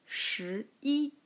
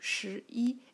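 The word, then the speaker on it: 十一: just gave to you sure e it's just a combination of for sure and E which makes sense isn't that ten plus one that is 11 that is sure eat I'll write again here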